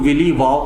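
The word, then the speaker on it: williwaw: कई लोग विली वाव कहते हैं, कई लोग विलीवा कहते हैं, कई लोग विली वाव कहते हैं। तो अलग अलग प्रोनाउंसिएशन है। तो हम जो है विलीवा कहने वाले हैं इस वीडियो में, ठीक है।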